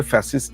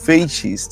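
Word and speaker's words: fascist: ফ্যাসিস্ট শব্দটা আসলে একটু এটার উচ্চারণটা আসলে ফ্যাসিস্ট না এটা হচ্ছে ফেসিস্ট আসলে বলা যেতে পারে।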